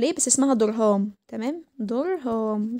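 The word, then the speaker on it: Durham: درهام بتتكتب يعني زي ما بننطقها، درهامز تيوب، تمام.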